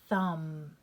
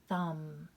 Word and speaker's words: thumb: myself right now that m b that b is silent and its sound is just the um so here we go we have the word thumb no b sound there at all silent thumb right there is m